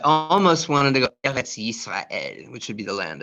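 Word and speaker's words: ישראל: It's Yisrael. Yud, E, Yi. Sin, silent, Yis. Resh, A, Ra. Aleph, E. Aleph is silent, but I still got an E. Yisrael, and there's a Lamed. Yisrael.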